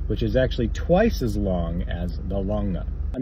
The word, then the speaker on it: longa: past gym lap map it's longa l-o-n-g-a not l-o-n-g-e I don't even know